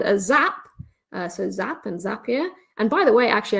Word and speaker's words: Zapier: the page that says zapier makes you happier so it rhymes just thought i'd throw